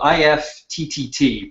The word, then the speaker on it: IFTTT: It's typically the realm that I reside in, but it's this one here called IFTTT, pronounced IFT.